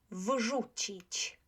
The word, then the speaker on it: wrzucić: Wrzucić, wrzucić, wrzucić. How about this one? Voiced, unvoiced. So how would we pronounce the first one?